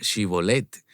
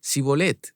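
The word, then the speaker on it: Shibboleth: Parece que aquellos asentados en la zona de Efraín no sabían decir Shibolet, sino que decían cibolet. Es correcto. El sonido yu no era parte de su sistema fonético y fonológico, así que los atrapaban en la pronunciación.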